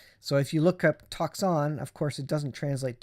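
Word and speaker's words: τόξον: It's pronounced toxon.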